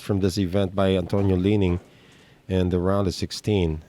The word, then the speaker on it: Lining: mcdonald calls him although his last name is pronounced leaning like like the chinese apparel brand chinese brand he doesn't